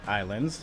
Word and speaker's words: Ylands: back to another episode of islands pronounced islands spelt islands I kind of tripped